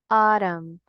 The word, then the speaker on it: autumn: Autumn. Casi siempre cuando ustedes encuentren AU en palabras, el sonido que hacemos es un sonido largo de la A.